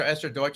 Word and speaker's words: Esther Deutsch: welcome our guest uh esther deutsch should i pronounce the last name right esther esther deutsch is that right perfect yeah thanks so much